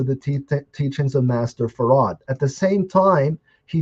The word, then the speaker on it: Fard: like Master wajib no he was farad it was very clear that's how he pronounced it so he was changing